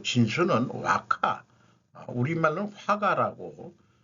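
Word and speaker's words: 和: 정신을 한마디로 하면은 화 일본말로 와로 발음이 되는 건데 아주 그 그리고 그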